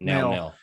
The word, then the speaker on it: Nail: Epic moment number 2 for me was when Piccolo absorbed, I think it's Neil or Nail or how do you say it? Nail.